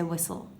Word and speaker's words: whistle: Okay, it sounds like it shouldn't be whistle, but it is, and we don't really pronounce the T. We don't say whistle, we say whistle.